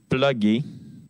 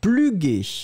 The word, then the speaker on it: plugger: Alors faites attention, Liliana, parce que si on l'écrivait avec un U, on le prononcerait pluguer. Donc on ne peut pas l'écrire avec un U, puisque dans ce cas-là, ce serait un petit peu étrange.